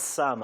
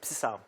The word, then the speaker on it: psalm: Do you know in school, I used to pronounce Sam as Psam. In secondary school there. And I'll be like, it's supposed to be. You didn't know the P was silent.